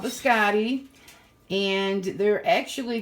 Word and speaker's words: biscotti: The biscotti, that's how you pronounce it, like the male name Scott Biscotti.